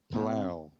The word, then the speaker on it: Palou: And then you have Alex Palou that how you say it? Palau.